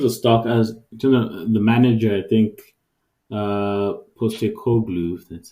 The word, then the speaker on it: Postecoglou: In terms of stock, in terms of the manager, I think Postecoglou, that's how we pronounce his name.